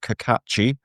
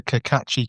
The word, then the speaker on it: Cacace: So yeah, Liberato Cacace. I think that's correct pronunciation, or is it Cacace? Yeah. Thank you very much. Just think of the Cacace kid, and you'll get it.